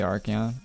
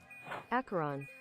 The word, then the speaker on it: Acheron: Acheron. Acheron? Oh yeah, I'm definitely saying it wrong.